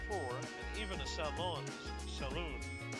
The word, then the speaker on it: salon: Salon? I'm just gonna pronounce it in French because this is a French word.